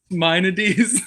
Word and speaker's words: Maimonides: As the classic Greek philosopher Maimonides said, it's I'm- pronounced Maimonides.